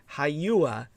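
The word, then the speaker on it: Hagia: h a g i a uh but it's pronounced haua hyua saaya it may it remains a potent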